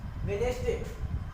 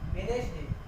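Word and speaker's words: Wednesday: वेडनेसडे, क्या पढ़ते हैं? वेडनेसडे, न कि वेडनेसडे, वेडनेसडे, क्योंकि यहाँ पर डी साइलेंट है।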